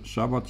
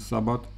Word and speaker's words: szabat: Bo wielu ludzi myśli, jak słyszy szabat czy sabat, co właściwsze uważam, że jest szabat, bo tam jest też szyn, jako szy wymawiane, kojarzy się tylko z szabatem cotygodniowym, czyli dzisiaj sobota.